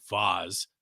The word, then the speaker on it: Vase: about because there's this band called Vaz which is spelled vase v-a-s-e from Michigan that we're